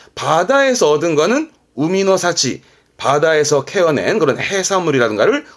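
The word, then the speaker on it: 海の幸: 열매라든가 그런 것들을 야마노 사치, 바다에서 얻은 거는 우미노 사치, 바다에서 캐어낸 그런 해산물이라든가를 우미노 사치.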